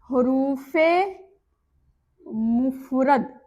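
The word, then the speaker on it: حروف مفرد: तो पहला किस्म का नाम है हुरूफ मुफरद। अब आप सबको यह याद कर लेना है और प्रोनाउंसिएशन यानी कि उच्चारण पर भी ध्यान देना है। हुरूफ मुफरद मुफ रद।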